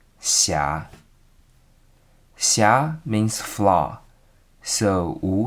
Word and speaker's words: Xia: The pronunciation of Xia is between C and She. Xia.